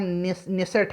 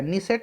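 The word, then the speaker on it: Knesset: तो इजराइल का संसद का नाम निसेट है, निसेट या नेसेट, उच्चारण आपको सही करना है, ठीक है। चलिए, नेसेट हो जाएगा।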